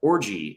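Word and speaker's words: Orji: Like, Orgy is their best player, the linebacker. His name's Orgy. How's it spelled? Not like orgy, but it's still pronounced that way, which is a bold move.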